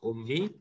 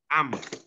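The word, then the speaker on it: أَمْ: Tapi di sini ya seperti ini bukan bacanya ummi, bukan bacaannya ummu, tapi ini bacaannya adalah am. Apa? Am. Ya. Jangan panjang-panjang. Am.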